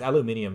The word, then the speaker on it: aluminium: And aluminium, yeah, it's aluminium because it's spelled the British way.